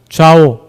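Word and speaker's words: 赵: 웨이장 마을에 좌오나리, 좌오, 중국 발음으로 좌오인데요. 우리로 따지면 이제 조씨, 조가 집안 사람들의 일원이라고 했다가 이 좌오나리에게 불려가가지고 정말 흠씬 두들겨 맞고 쫓겨나기도 했습니다.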